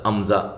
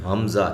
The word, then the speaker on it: حمزہ: اب اس کی آواز لیکن اس کے تلفظ میں یعنی کہ اس کی سپیلنگ میں ہا آتا ہے، ہا سے شروع ہو رہا ہے حمزہ، ٹھیک ہے، امزہ نہیں اس کو کہتا، امزہ نہیں، حمزہ ہے۔ یا کھڑی زبر یا۔